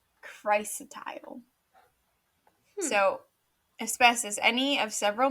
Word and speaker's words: chrysotile: Oh, I was saying it wrong. I was saying it so wrong. Okay. It's chrysotile.